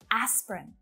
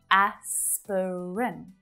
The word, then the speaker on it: aspirin: short chocolate chocolate chocolate aspirin so this is another example where it really looks like there should be three syllables right asperin it's just two aspirin aspirin so it's always pronounced this way aspirin wednesday i mean i